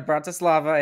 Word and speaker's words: Bratislava: from slovakia and and make sure i pronounce this right he's you're outside of brought to slava is that right yeah that's right he's outside of bratislava and his name is